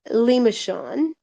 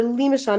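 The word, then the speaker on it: limaçon: I don't know if I'm pronounced I always feel like I pronounce that incorrectly, but it's a limishon. It's a French word and it has a little accent mark on it. It's underneath that C.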